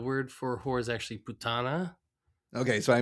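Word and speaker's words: puttana: So the first thing is the word for whore is actually putana. Okay, so I mispronounced it.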